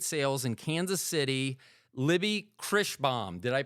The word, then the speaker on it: Kreighbaum: I'm going to go with uh I'm going to welcome from Two Rubies Estate Sales in Kansas City, Libby Krishbaum. Did I pronounce it You did it!